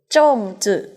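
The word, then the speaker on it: 粽子: ขนม บ๊ะ จ่าง ออก เสียง ว่า สู้ สู้ จง จื่อ ขนม บ๊ะ จ่าง ขนม บะจ่าง นะ คะ อัน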